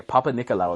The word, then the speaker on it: Papanikolaou: correct yes he was yes sir so a Papanikolaou that's how you say his name and and